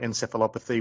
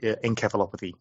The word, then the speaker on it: encephalopathy: Yeah, the Americans call it encephalopathy. We tend to call it encephalopathy.